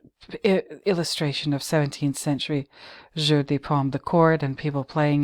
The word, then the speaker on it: jeu de paume: But anyway, let me read the history of Jeu de Paume. or jeu de paume. I have to pronounce it properly.